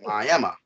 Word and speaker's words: Miami: even though it's spelled Mike Miami Florida they pronounce it ayema I mean yeah it's trifling yeah um but